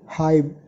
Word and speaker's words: HYBE: mereka menjadi hak corporation Hip ya pakai b bukan p Jadi dibacanya itu high Ya sama aja sih